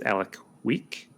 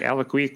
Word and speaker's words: Alek Wek: I think her name is Alek Wek. Do you know this person? She's a supermodel. ALEKWEK, like Alek Wek.